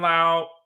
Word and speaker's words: Lowe: of the season for Lao five home runs in July and you know Lao is somebody it's spelled low but his name is pronounced Brandon Lao is one of the